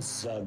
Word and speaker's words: Zug: So that rhymes with Zug, which we know.